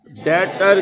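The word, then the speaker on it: debtor: Business जिस customer को उधार पर सेल करता है उसको बिजनेस का डेटर कहते हैं। बी इसमें साइलेंट है, उसको बिजनेस का डेटर कहते हैं।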